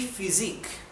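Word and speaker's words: Physik: H al igual que en inglés pH se pronuncia como la f verdad ejemplo di phys di physic la física perd física la materia la física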